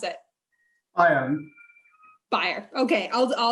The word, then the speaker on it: Bayer: bayer although i understand folks uh in germany pronounce it buyer christian how do you pronounce it i am buyer okay i'll pronounce the